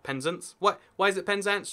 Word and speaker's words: Penzance: So you get places like, this is Penzance, not Penzance. Why is it Penzance? Just, extra emphasis goes there all the time for reasons we're not too sure about.